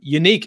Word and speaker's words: Yannick: Yannick and Gok way pronounced his first name unique in Gok way that